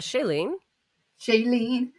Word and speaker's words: Shailene: Happy birthday, Shailene. Is that how you say it? Shailene? Yeah, Shailene.